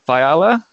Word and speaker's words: Fiala: How do you pronounce your name? Fiala.